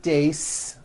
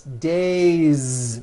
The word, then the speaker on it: days: It's not days, unvoiced. It's days with a voiced Z ending.